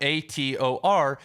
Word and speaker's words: Hathor: the orchard keeper but Ator is also can translate to Hawthorne because a lot in a lot of languages the H is silent or doesn't even exist and that's the Egyptian